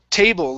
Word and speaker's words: table: the war excellent okay next up is table long a sound instead of tble with a short e tble it's t T